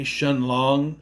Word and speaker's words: Shenron: They collect all the Dragon Balls together and they use they summon Shenron, which they say Shunlong in the movie, but that's his Japanese pronunciation, so it's fine.